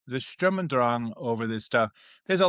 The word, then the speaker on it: Sturm und Drang: In honor of our vast German population of viewers, whom I adore, it's Sturm und Drang. Sturm and Drang. Sturm und Drang.